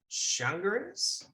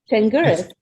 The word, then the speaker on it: Changuris: Changuris. It's an Ellis Island hatchet job. So okay, great. Yeah, it's spelled nothing like it would be spelled in Greek.